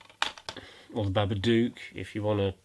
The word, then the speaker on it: Babadook: The Babadook, or the Babadook, if you want to pronounce it properly.